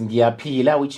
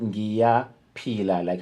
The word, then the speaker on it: Ngiyaphila: And how you pronounce it, Ngiyaphila, like how you peel an orange, and it's like a gear, a motor vehicle gear, but you add an N so it can have that element.